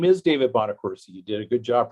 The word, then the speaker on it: Bonaccorsi: Yes, my name is David Bonaccorsi. You did a good job pronouncing it.